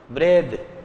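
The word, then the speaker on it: breathe: इसमें ई जोड़ना पड़ेगा अब इसका उच्चारण होगा ब्रेथ पहले इसका उच्चारण क्या था ब्रीत अब क्या है ब्रेथ है तो जहां तक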